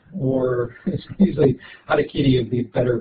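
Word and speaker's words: harakiri: I think a lot of you have heard of what Americans call Harry Kerry or usually adakitty would be better pronunciation.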